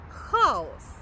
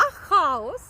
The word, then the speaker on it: хаос: А хаос, наголос на перший склад, на а - це термін, який вживається в міфології, в міфах. А хаос, наголос на останній склад - це безлад, це непорядок.